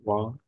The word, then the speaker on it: bois: est-ce que tu bois du café? Mhm, Oui, j'aime boire des tasses for you. mhm. Exactement. Alors, très bien. B. Alors, attention. Ici, OI. OI, toujours roi. Moi, OI, bois.